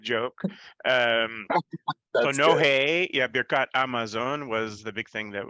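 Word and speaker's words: Birkat Hamazon: the He Hayediyah before Hamotzi, they would never pronounce the He. It would be Amotzi or Amosi. Same with Birkat Amazon, which is particularly funny growing up in Seattle,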